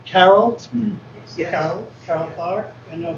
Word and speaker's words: Carroll: Is it pronounced Carroll?